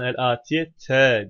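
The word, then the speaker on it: الآتيةَ: El atiyete kelimesi feraga kelimesinin sıfatı ama atiye kelimesinin nasb hali fethadır, esre değildir. Bu yüzden el atiyete diye okunur.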